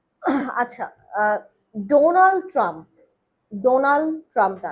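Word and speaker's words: Donald: আচ্ছা ডোনালড ট্রাম্পোনালড ট্রাম্প লাস্টের ডিটা উচ্চারণ করতে হবে ডোনাল্ড ডোনালড আমি সবগুলা লেটারকে আপনার ওর মর্যাদাটা দিতে হবে সম্মান দিতে হবে ঠিক আছে ডোনাল্ড না আপনি বলেছেন ডোনালড মানে লাস্টের লয়ে শেষ করেছেন কিন্তু বাডিটা সেটা উচ্চারণ করে নাই ডোনাল্ড ট্রাম্প ঠিক আছে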